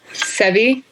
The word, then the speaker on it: Seve: We're going to talk to Seve, is that how you say his name? Sevi. Sevi. Yeah, Sevi, yep.